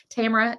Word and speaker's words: Tamara: know but we always just say Tamara or Tamara if you want to be um if you want to say the right number of syllables but Tamara is what most people say around here rhymes with camera uh Diane says always